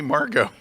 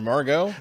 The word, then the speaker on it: Margot: You could could be Margo or Margot. The T is silent there on the end.